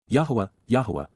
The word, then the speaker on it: Yahowah: Yahowah, the proper pronunciation of Yahowah, God's personal and proper